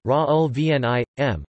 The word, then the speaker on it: Raoul Vaneigem: Raoul Vaneigem, Dutch pronunciation, Raoul Vaneigem, born 21 March 1934, is a Belgian writer known for his 1967 book The Revolution of Everyday Life.